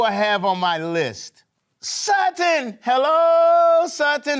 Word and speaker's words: Sutton: Sutton. Hello, Sutton. How are you doing, Sutton? Great. Great. Sutton, your name rhymes with a word. Button. Yes, you are right.